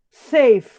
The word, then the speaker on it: safe: Seguro e é Safe Safe quando você fala palavra vocês Apesar de nós olharmos aqui em português pensarmos que tem duas sílabas na hora que nós pronunciamos ela tem uma sílaba só sei eu abro a